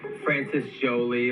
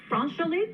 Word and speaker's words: France Joli: share, like meets like Frances Jolie, like Frances who? Frances Jolie. You mean France Jolie? Is that how you say it? France Jolie. Oh, I just learned that right now.